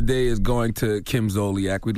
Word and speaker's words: Zolciak: Yes, Donkey today for Monday, April 23rd goes to Real Housewives of Atlanta star Kim Zolciak. That's how you pronounce her name?